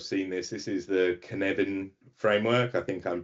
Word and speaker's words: Cynefin: That's Cynefin. So it's a Welsh language word.